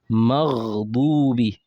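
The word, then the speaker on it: مغضوب: So, we're coming to one of the common error people make when they pronounce this word or this letter. You know, uh for example, in this Maghdubi, many people will just say Magh dubi. They'll say Magh Magh.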